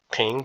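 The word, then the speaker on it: 平: that there is pronounced ping and it's upward tone ping and this one here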